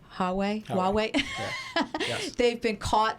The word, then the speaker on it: Huawei: And we know this is going on with, am I pronouncing it right? Huawei?